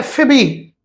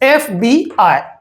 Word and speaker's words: FBI: Each letter of the word is pronounced separately unlike acronym where the whole group of the words letters become a single word and pronounced as a word.